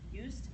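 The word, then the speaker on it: Joost: and actually that's probably it's not used it's y because that's oh I just got that yeah thought you pronounced his name but it's j o o s t so it looks like used yep anyway so but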